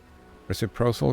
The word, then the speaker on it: reciprocal: Reciprocal goes soft C, hard C.